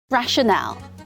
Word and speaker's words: rational: 발음하시면 진짜 무덤을 갈 수가 없게 될 것입니다 rational rational입니다 이유 근거 reason이랑 같은 뜻이죠 발음을 라셔이라고 해 줘야 돼요 n 발음이 끝나서